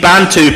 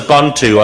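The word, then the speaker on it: Bantu: Sorry, I mispronounced the bantto people as bondu.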